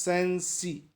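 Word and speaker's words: Cenci: In particular, Beatrix Sensi, pronounced Sensi.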